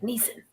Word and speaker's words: Nissan: I was just over Orlando Bloom saying Nissan because he was like Neeson, which is just like a British way of pronouncing it.